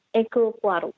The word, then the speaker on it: Hercule Poirot: Hercule Poirot. Hercule Poirot. Dan gue baru tahu itu cara bacanya.